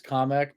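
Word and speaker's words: Kamek: also I usually say kamik that's how I pronounce it but I could I I could actually see it being pronounced as comic because it sounds like a more Japanese like pronunciation yeah the one that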